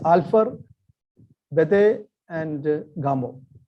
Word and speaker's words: Bethe: It says Alpha, Bethe, and Gamow. And that rhymes with alpha, beta, and gamma.